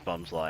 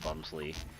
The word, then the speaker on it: Bumslie: All right, come around a little bit more, Bums, and I'll definitely learn that it's Bumslie and not Bumsley.